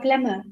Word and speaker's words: plumber: this one plumber monica remember we don't have to use b plumber no b is there a plumber simply imagine there is no b plumber plumber okay there is another